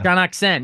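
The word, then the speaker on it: Shaunak Sen: filmmaker um Shan how do you say it shanuk sen shaken yeah shaken yeah so uh it's in Hindi language and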